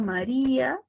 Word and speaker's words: María: tengo más cierto Entonces cuando yo segmento tengo ahí tres sílabas y cuando me preguntan qué clase de palabra es yo digo pues es una palabra grave porque lleva la mayor fuerza de voz No en la última sino en la penúltima sílaba Pero según las reglas